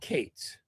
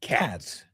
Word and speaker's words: Katz: called k a t z. There is no one else on Earth with the surname k a t z who doesn't pronounce it cats. But he's Katz. And he's also a lunatic.